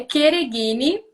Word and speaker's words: Chereghini: fiscal, sempre me pergunta, me explica qual é a pronúncia correta do teu sobrenome, que eu falo por experiência própria. Como é chato ter o nome falado de forma equivocada, né? é Quereguine, Ah, mas no que Brasil